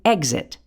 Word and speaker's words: exit: X can also say Gz, the G and Z sounds blended together, as in exit.